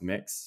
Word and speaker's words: Mx: the the gender neutral it's MX which is pronounced mix so it' be like mix Davies and um yeah